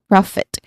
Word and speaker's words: profit: It has a short O sound as in hot or dog. So you should be careful not to make it too long. Okay, that make it a long O sound.